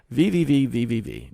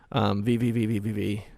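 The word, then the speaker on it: VVVVVV: VVV. You guys remember this game? I think it's just pronounced V.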